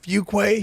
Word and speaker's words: Fuquay: It's like Fuquay Varina. Yeah. And it's really Fuquay, I think is how you say it. Yes, you say it Fuquay.